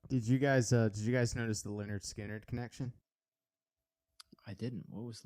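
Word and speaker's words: Lynyrd Skynyrd: It's pronounced Leonard Skinner.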